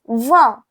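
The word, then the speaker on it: vingt: And for the 20 it's va va. For the 20 it's va.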